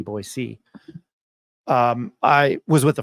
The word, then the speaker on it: Boise: my team is in boyy Idaho and you have to say it right not boy z boy c um I was with